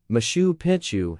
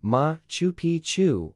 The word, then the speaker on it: Machu Picchu: In reference to the site's name, for most English or Spanish speakers, the first C in Picchu is silent. In English, the name is pronounced Mtapitu Machu Picchu or Mtapictu Machu Picchu.